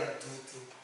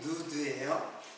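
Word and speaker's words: נוד: 그런데 지금 여기에 방황하는 것은 그 방황이라고 하는 것, 방황, 유리 방황하는 사건은 무슨 뜻이냐면 유리는 누드예요. 누드. 발음이 누드예요. 이거는 헤매다, 방황하다 이제 그런 뜻이에요.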